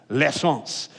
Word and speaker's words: l'essence: And if you're talking about like proper, you'd be like, there's a little L in front of it that you barely pronounce if you're speaking French, l'essence, which means the essence, the gasoline, the petrol.